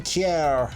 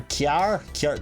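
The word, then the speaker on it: Kjær: goal, Masiello, the captain, Simon Kjaer, or Kjaer. There's plenty of places in Northern Ireland where that is how people pronounce the word car, so that's not unfamiliar.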